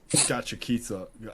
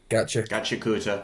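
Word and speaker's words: Gachiakuta: I've been watching Gachikita. Is that how you say it? Gachikuta.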